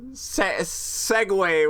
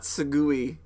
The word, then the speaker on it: segue: did not know the the word uh Segway was it was not sugui uh I think he